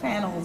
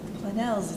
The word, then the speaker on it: Planel: do you say that they called panels or planes or and it's like plannells it's a Spanish French it's from the Pyrenees Mountains but when you are